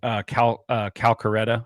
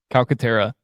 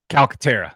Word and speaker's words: Calcaterra: Do you guys like Calcaretta or how do you say his last name? Calcaterra. Calcaterra, yeah. I always say Calcaretta or something like that.